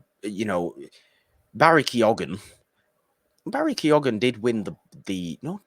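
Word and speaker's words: Keoghan: know Barry kyogan Barry Keogan did win the the no did Barry kyogan win the bafta he did Barry kyogan won the bafta and his name's not kyogan but I always say it like that he won the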